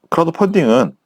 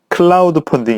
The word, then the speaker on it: 크라우드펀딩: 애마 말씀드릴게요 먼저 뭐 크라우드 펀딩은 이제 발음을 잘 하셔야 되는데 클라우드 펀드 양이에요 어 저도 참여 헷갈렸는데 크라우드펀딩 입니다 즉 대중을 마라 크라우드